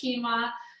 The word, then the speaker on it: quinoa: they wonder how is it even pronounced it's pronounced quinoa and it's a nutritional powerhouse so brown rice